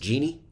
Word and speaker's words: GNY: Pronounced Genie.